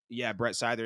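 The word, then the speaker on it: Seither: Scyther is Brett Scyther is how you say his name.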